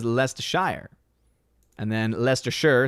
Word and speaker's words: Leicestershire: laughing at me as i was destroying this pronunciation uh sharon sharon sharad ferguson what's going on says it's lest ashur leicestershire gotcha scott miller says lester shire and then lester sure says snort of poopis